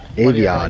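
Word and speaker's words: Aviat: Aviad. That's how you pronounce it.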